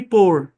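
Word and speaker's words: pour: আর এটা হচ্ছে পি ও ইউ আর, উচ্চারণ কি পোর।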